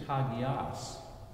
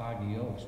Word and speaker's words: hagios: We know that holy in Greek is hagios. I call it hagios, but my professor would die if he heard me say that. Hagios, he would say. You mispronounced it.